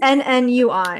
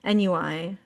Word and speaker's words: ennui: ENNUI and it's pronounced ennui, but people usually say NUI.